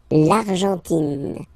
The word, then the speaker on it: Argentine: Okay, so you get this nasal here. En, l'argent, and then tin. Don't pronounce the final E. It just gives you the pronunciation of the N. In. L'Argentine.